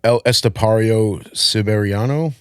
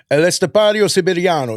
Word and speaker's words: El Estepario Siberiano: You did, but I think that's pretty much how you pronounce it. El Estepario Siberiano.